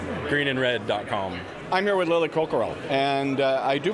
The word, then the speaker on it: Coquerel: I'm here with Lily Coquerel, and I do pronounce that correct because I've known her for years, right?